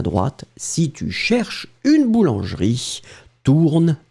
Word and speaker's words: cherches: Not the end of the world, you don't pronounce it, but still it should be there technically. Tourne à droite. D'accord? Si vous cherchez une boulangerie, tournez à droite. Si tu cherches une boulangerie, tourne à droite.